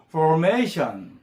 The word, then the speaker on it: formation: 올린말로 포메이션 이렇게 하지 말고 R 발음이 있으니까 혀가 유천장에 다 할까 말까 이런 느낌이에요. formation formation 예 foration foration 그리고 이제요 단어는 좀